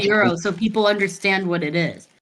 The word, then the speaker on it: gyros: mean wait real quick isn't it Euros it's euros yeah why is it spelled like gyro because it's just silent like it's Mediterranean it's